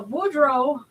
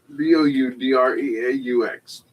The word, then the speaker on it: Boudreaux: Uh Boudreaux Yeah. Uh let's see. B O U D R E A U with an X. X, yeah. B O U D R E A U X.